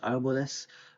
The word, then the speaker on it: árboles: Puedo ver unos, or let's say something like se ve unos árboles, trees with accent on the A, unos árboles, like in the background, let's say, en el fondo, far away, y the weather está nublado.